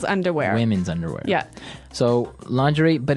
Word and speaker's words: lingerie: And the first one is lingerie. Lingerie. Lingerie. Okay. So, lingerie. This is a nice fancy word. Basically for underwear. Right. Right. For women's underwear. Women's underwear. Yeah. So, lingerie, but it's very nice.